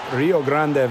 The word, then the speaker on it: Rio Grande: When you bring up Rio Grande Valley, which is the correct pronunciation, but anyway, the longtime affiliate of the